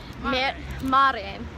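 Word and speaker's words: mère: And so, apple here is mare. And anyways, but it's spelled M-E-R-E.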